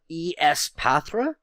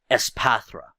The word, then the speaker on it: Espathra: I don't know if you want to call it Espathra if it's pronounced like that or just Espathra cuz ESP it's psychic. I want to say Espathra but I'm not sure.